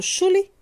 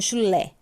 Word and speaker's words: chulé: Eu falo chule ou chulé? Chulé. Sílaba tônica no lé.